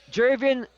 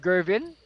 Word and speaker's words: Jervin: So at the line, Jervin Compas, or if you sometimes you want to pronounce it, Gervin, after the NBA legend George the Iceman Gervin, famous for his finger